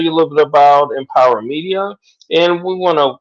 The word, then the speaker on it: MPWR: is mpwr media llc one dot com so empower mpwr is a play on words as we pronounce it as empire all right so that's